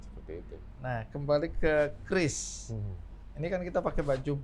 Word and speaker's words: QRIS: Harusnya yang benar Kris. Kris. Kris K. K ya. Tapi karena memang ini hurufnya depannya Q, karena kan QR kan dari Iya. bahasa Inggris, maka Q quick respond kan. Iya. Tapi kita sepakat ini dibacanya Kris.